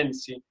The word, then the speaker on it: ensi: Porque se escribe Patesi, pero se dice Ensi.